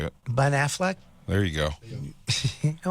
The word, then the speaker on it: Ben Affleck: they're not they use it with Batman uh Ben Affleck right he's in it I don't think that's how you say it Ben Affleck there you go you know what benefit I